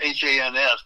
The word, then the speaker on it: Hans: Well, this is one written by my friend in Phoenix, Hans Olsen. It's H-A-N-S, but it rhymes with chance.